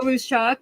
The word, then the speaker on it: Russeck: least we have russeck i'm sorry if i pronounced your last name is fine everyone butchers it it's fine i am rooshok i don't go by